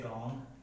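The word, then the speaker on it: wrong: है किसी वर्ड में, अगर डब्ल्यू किसी भी वर्ड में आर के पहले आता है तो जो वो है डब्ल्यू है वो क्या हो जाएगा साइलेंट हो जाएगा। जैसे रॉन्ग, राइट, रैप, ठीक है।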